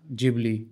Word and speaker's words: Ghibli: मैं बात कर रहा हूं गिबली की जिसका असली जो एक्यूरेट प्रोनाउंसिएशन है वो जिबली है। जैपनीज़ के हिसाब से। लेकिन जी और एच होने की वजह से हम सभी लोगों से गिबली बोल रहे हैं।